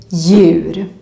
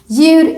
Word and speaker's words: djur: you should think that the D is completely silent. Just ignore it and just pronounce the letter Y. For example, in this word, djur. Djur is how we say animal. We see a D, but we ignore it. Djur.